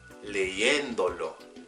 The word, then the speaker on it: leyéndolo: Pretty much the third to last vowel needs to be the stressed syllable of the word. So pay attention to when I say leyéndolo, leyéndolo.